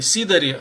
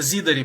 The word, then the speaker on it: зидари: Он прочитал, кстати, сидари, хотя там читается зидари, потому что з это звонкое согласное, а с это глухой отзвук ее.